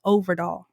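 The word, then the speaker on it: Øvredal: I went all over YouTube, tried to find interviews where people say his name, and that's the only one I could find was Overdahl.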